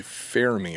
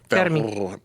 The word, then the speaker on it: Fermi: topics, which is the Fermi paradox or the Fermi paradox. What's the proper way to say it? Fermi? Fermi. Fermi. Is it French? Fermi. No, Italian. It's Enrico Italian.